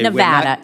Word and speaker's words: Nevada: month ago point in Nevada okay Nevada it's Nevada sir please say it correctly it's Nevada if a